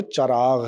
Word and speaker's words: چراغ: ہو جائے گا مطلع۔ پھر لفظ ہے چراغ، چے پر زبر، رے پر زبر، الف ساکن، غین ساکن۔ تو یہ لفظ ہو گیا چراغ۔ انڈیا میں کچھ لوگ چراغ بولتے ہیں لیکن اس کا جو تلفظ ہے وہ چراغ ہے، ٹھیک ہے۔ آئیے اس